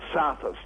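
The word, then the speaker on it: Psathas: there's John saus it's a hard one to pronounce but spelled p it's a Greek name isn't it PSA so like Sam so sthus John sthus rth Harris who work at our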